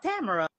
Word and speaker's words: Tamara: Tamara. Tamara? Tamara. Tamara. Tamara. Tamara. It rhymes with camera.